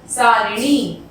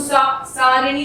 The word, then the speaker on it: सारणी: सारिणी, तो सारिणी नहीं होता, सारणी होता है, इसमें र पे हम मात्रा को नहीं दर्शाएंगे।